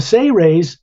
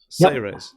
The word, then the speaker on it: Seres: is lemreal um the say raise is is you pronounce it as if it was spelled s-a-y hyphen r-a-y-s say race but it's s-e-r-e-s and